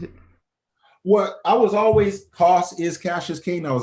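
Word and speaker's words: Co$: say it wrong, but Cos, like CO money sign. Is there did I say it correctly? Yeah. So is there a particular reason you changed it? Well, I was always Cos is Cashus King.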